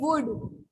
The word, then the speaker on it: would: WOULD वुड. WULD wood.